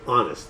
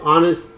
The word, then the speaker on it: honest: don't tell lies okay honest again when you say honest you do not pronounce the H so let me read